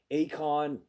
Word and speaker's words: AECON: Akon, their stocks are super low, but they could be super worth it.